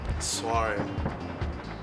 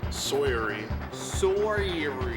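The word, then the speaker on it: soirée: I pronounced too many letters, obviously. You put a W in there. Why? Soiree. Sawyery.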